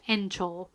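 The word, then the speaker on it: 園長: him the head of the park, which is pronounced Encho.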